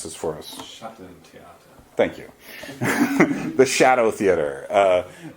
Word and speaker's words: Schattentheater: And I went to this one, could you pronounce this for us? Schattentheater.